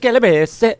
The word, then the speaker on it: Calabrese: It's pronounced Calabrese. How do you guys? It should be Calabrese. Calabrese. Okay. But Calabrese. Calabrese. But yeah, we've always the family always said Calabrese, so we did that.